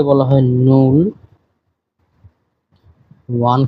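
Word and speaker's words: null: এবং টেন কে বলা হয় সেন আপনারা এই উচ্চারণ গুলি সহ দেখবেন আমি আবারো শুরু থেকে বলি শূন্য কে বলা হয় নূল ওয়ান কে বলা হয় আইন্স টু কে বলা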